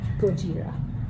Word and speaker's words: Gojira: I mean, it's yay for Gojira. Is that correct pronunciation? Gojira.